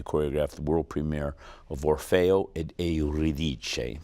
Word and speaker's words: Orfeo ed Euridice: Balanchine was going to choreograph the world premiere of Orfeo ed Euridice, the Italian pronunciation for Orpheus and Eurydice.